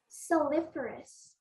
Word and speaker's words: saliferous: the word please siliferous soliferous am i pronouncing it correctly say the word again please siliferous that's right correct all